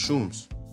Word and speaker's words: chum: They live in chums, pronounced shums, which are large teepee-like tents made from all tall poles and reindeer hides.